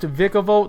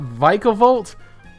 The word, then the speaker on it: Vikavolt: pokemon number three vicavolt i do believe it's pronounced vikavolt not vicovult but pokemon pronunciations are